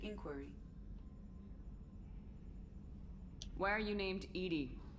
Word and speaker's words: EDI: Why are you named Edie? EDI is the phonetic yeah. pronunciation of EDI.